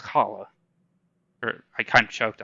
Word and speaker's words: challah: We call it the Mediterranean H. If you've ever eaten challah, it's pronounced challah. Or I kind of choked on my spit there. It's pronounced challah.